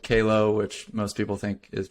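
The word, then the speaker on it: Qalo: do uh and stumbled Upon A brand called Calo which most people think is pronounced Quello yeah I'm wearing mine this time yeah yep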